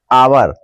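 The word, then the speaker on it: hour: ए एन लगानी है इसमें भी एच दिया है लेकिन यह एच जो है साइलेंट है जब हम उच्चारण करते हैं तो एच को नहीं बोलते हैं और जो उच्चारण है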